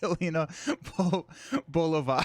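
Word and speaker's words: Yelena Belova: Winning hand is pronounced Helena Bolova.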